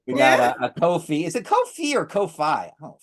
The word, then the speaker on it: Ko-fi: We got a Ko-fi. Is it Ko-fi or Ko-fi? Ko-fi. Is it Ko-fi? Coffee? No, it must be coffee because it's rhyming with coffee.